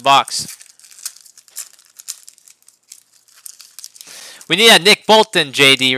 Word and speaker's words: Bolton: You're saying Bolin. I'm saying Bolton. Nick Bolton. Justin Fields. Bolton. Bolton. I'll pronounce my T's.